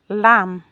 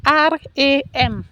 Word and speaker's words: RAM: Like in the community I come from, we don't have the difference between R and L.